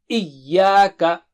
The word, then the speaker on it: إِيَّاكَ: Don't say Iyyaka. No, Iyyaka. So repeat 3 times. Iyyaka.